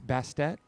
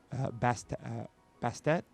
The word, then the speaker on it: Bastet: And I know you'll know how to pronounce this because it's the Egyptian. It's Bastet or Bastet.